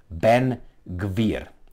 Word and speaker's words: Ben-Gvir: And his name is, I will try to pronounce as much, as the best I can, Ben-Gvir.